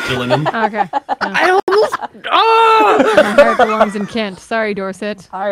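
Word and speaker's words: Gillingham: a crumb um jillum you're gonna kick yourselves because this is jillian this is just killing him sorry dorset all right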